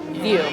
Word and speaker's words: VU: View. VU. VU or View? View. View. VU is how it's spelled, sorry.